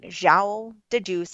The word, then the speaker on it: João de Deus: So they went, and yes, there was this man in a wheelchair, and John of God, like João de Deus is how you say it.